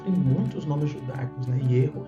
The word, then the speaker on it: Yehová: Ierro é muito natural dentro da língua hebraica.